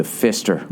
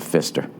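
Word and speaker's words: Pfister: Uh, which is the Fister Hotel. I swear to God, it's called the Fister. It's the last name of this family. It's spelled P F I S T E R.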